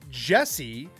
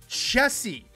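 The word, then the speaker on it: Chessy: Now, if you had said Jessie, J-E-S-S-Y, or however way you want to spell it, technically it's incorrect. But I think it was a huge revelation during COVID when everyone's like, oh, it's Chessie, C-H-E-S-S-Y. Little different, but that is technically her name is Chessie with a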